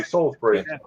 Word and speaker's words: Salisbury: But is it B-U-R-Y or B-R-E-E, the way you pronounce it? B-U-R-Y, Salisbury. Okay. Yeah. So like when you die, you get buried, not breed.